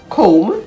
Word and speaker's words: comb: some silent letter rules we don't usually pronounce the letter b in a word if it is after m at the end of a word such as in the words bomb b-o-m-b comb c-o-m-b to t-o-m-b crumb